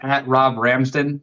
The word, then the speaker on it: Robb Ramsden: It's literally just Rob Ramston, but it's spelled how it's spelled down here.